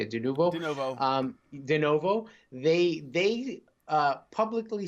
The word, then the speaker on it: Denuvo: So Tequila Works, the developer, basically said that their DRM, Denuvo, that's how you say it, Denuvo, they publicly said that if somebody hacks or